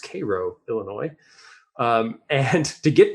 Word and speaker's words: Cairo: illinois it is spelled cairo but it is pronounced cairo illinois um and to get there i literally